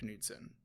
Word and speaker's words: Knudsen: But I will say there's a YouTube channel called Frederick Knudsen. Okay. Well, probably Knudsen, but I always pronounce the K because it's easier to search.